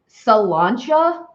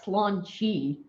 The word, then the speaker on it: Sláinte: Sláinte. Sláinte. Sláinte. Sláinte. Sláinte. Maybe that's it. Sláinte. Che. Sláinte. It's not slaunchy.